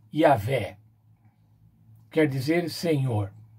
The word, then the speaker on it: Yahvé: Yahvé, que é um tetragrama YHWH e que se pronuncia Yahvé.